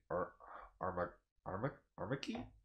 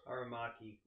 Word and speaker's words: Aramaki: Both 3D CGI anime series are directed by Kenji Kamiyama and Shinji Armaki? Hope I'm pronouncing that right. Production IG and Sola Digital Arts. Aramaki.